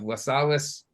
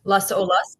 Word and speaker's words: Las Olas: she is the co-director of the Chabad of lasalles Florida I think I said that right I said it right Las Olas but that was good no wave exactly and